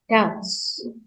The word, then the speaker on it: doubts: Yang dibaca T-nya ya, doubts. Ya, B-nya nggak dibaca.